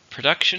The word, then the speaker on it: production: production is a noun how many syllables production three stress in the second one production has increased greatly since